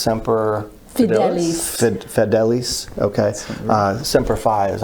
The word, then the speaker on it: semper fidelis: high standard latin for always faithful and it's pronounced semper fidelis okay uh semper fi as i always heard